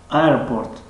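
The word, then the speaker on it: airport: در زبان انگلیسی حرف R یا ری که میگوییم ما و شما واضح و پر را تلفظ کرده نمی شود، یعنی R R مثل اینکه ای دراز میگوییم.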